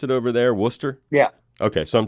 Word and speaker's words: Worcester: Now, first of all, is that how they pronounce it over there, Worcester?